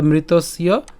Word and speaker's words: মৃতস্য: এরপর ধ্রুবং, ধ্রুবং জন্ম মৃতস্য চ, একই রকমভাবে এই যে জাতস্য যেভাবে উচ্চারণ করেছি একই রকমভাবে মৃতস্য উচ্চারণও সেম হবে। মৃতস অর্থাৎ অন্তঃস পর্যন্ত উচ্চারণ করার পরে জফলার উচ্চারণ ইয় করব, তাহলে মৃতস্য চ।